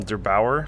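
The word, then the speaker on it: der8auer: I think you pronounced the channel Der Bauer.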